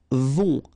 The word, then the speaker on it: vont: Then ils vont, final T not pronounced, and then O and together, on vont.